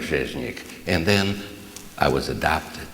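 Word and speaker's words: Rzeźnik: My name was not. It was Zheznik. Everybody say Zheznik. Oh, this is a good group. Nobody can pronounce it. It was a Polish name, Zheznik.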